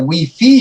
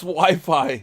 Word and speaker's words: Wi-Fi: morning the reporter corrected the guy and said we fee sir it's Wi-Fi I don't care everyone I know and friendly